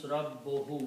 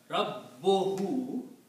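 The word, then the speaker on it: رَبُّهُ: Rabbohu, you have to emphasize of pronouncing Ba twice.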